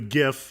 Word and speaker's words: GIF: So as far as Kieroneus TV is concerned, it's GIF with a hard G.